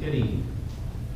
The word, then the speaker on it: Eddy: Tony Eddy. Maybe I pronounced it wrong.